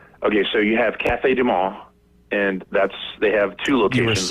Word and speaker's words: du Monde: Well, to be honest with you, okay, so you have Cafe Du Monde, and they have two locations. You were so One's close to in the French pronouncing Quarter. it correct. Is it Mundo?